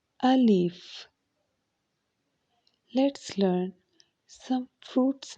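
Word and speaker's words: الف: language let's start a leaf a leaf let's pronounce it again alif alif let's learn some fruit's name start with letter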